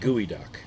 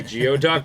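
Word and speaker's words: geoduck: you know I like gooey duck I know it might be geod duck but I like gooey duck no I think it's pronounced gooey it's tan though I'm tan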